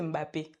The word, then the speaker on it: Mbappé: De la même manière dont il prononce Mbappé, c'est pas Mbappé, c'est Mbappé.